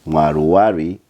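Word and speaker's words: Mwaruwari: However, being that he's playing for the Zimbabwe national team, we call him Mwaluwali as we do not have the L in our alphabet.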